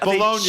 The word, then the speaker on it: Bologna: Jay Bologna has just sent us a picture of Bologna is how he pronounces his name, by the way.